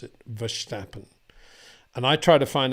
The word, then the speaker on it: Verstappen: thing because um I do notice I've got some Dutch friends and quite often they they do a sh for verstappen and DeVries and so I don't know so he's this is a build up okay it's a build up say why say Max for schnapping because I've got some Dutch friends who do say Max verstappen Max verstappen I know you're saying it's Max verstappen John but um actually I